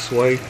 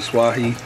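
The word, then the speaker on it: swai: It's sway, or some people pronounce it swahi.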